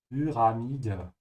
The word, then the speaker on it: Pyramide: Lösung ist Pyramide pronounce Umlaut Pyramide.